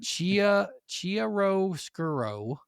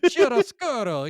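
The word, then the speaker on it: chiaroscuro: If I say it like Chirro Skuro, you know, if you say it in like the shitty Italian accent, you'll get it good. But if you say it like a normal person in America, you can't say it right.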